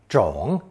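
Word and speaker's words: 种: us two more pronunciations third tone Jong meaning seeds of green crops and fourth tone CH meaning to plant or cultivate those seeds actually you will notice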